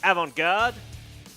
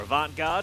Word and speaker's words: Avant Garde: This is Team Avant Garde, or Avant Garde, as they like to be pronounced.